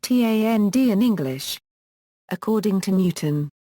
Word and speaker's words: Thandie: The name Thandie means beloved in Ndebele, Zulu, Xhosa or Siswati, and Thandie is pronounced Tand in English.